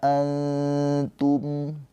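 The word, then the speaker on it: أَنْتُمْ: Ya, cara bacanya nunnya ini dibaca dengan samar ditahan dua harakat sambil lidah kita mendekat ke huruf ta, ke makhraj huruf ta. Antum. Tapi jangan lidahnya jangan ditempelin nanti jadi izhar.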